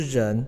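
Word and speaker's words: 儿: 这个字呢是人，它通这个人。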